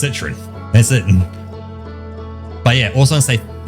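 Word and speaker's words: Citroën: That's a New Zealand accent. That's literally how you would pronounce that word with a New Zealand accent. So that's not me like trying to like do something special with it. I am just pronouncing it as Citroen.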